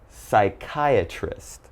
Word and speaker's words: psychiatrist: with pneumonia Psalm psychology psychiatrist psychic and psycho so alright if you ever see these words and something you're reading just remember there's a silent P when the word begins with P and is followed